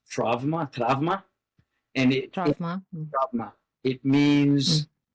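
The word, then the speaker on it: τραῦμα: Um And in fact, the word trauma is an ancient Greek word. We would pronounce it trauma trauma.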